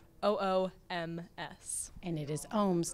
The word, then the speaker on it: Ooms: media there and also it's at the ohms and my last name is spelled oom and it is ohms not ohms like I would have announced contrary